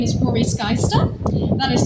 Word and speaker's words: Roary Skaista: so yeah as Brian said my name is Rory skyester that is spelled r-o-a-r-y-s-k a i s t a it's